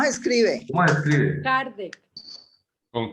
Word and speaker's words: Kardec: ¿Cómo se escribe? Kardec.